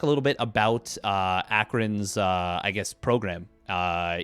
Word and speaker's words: Akron: i'm sam weiss i'm the captain of the akron team uh i was also informed by my teammate that it was being mispronounced downstream a little bit so just for the record it's akron that's what i thought but uh beowulf went